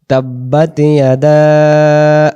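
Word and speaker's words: تبت: নিশ্বাস শেষ করি এই জায়গায় তাহলে আমরা বলব তাববাতলাহ এখান পর্যন্ত টান নাই সূরাতুল লাহাবের প্রথম আয়াতে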